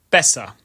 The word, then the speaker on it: besser: For example, if it's followed by 2 consonants, it will be short, as in besser, meaning better, with the long sound occurring